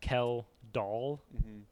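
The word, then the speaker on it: Kjeldahl: And it was like I wrote down in my notes kell doll so that I would say it right.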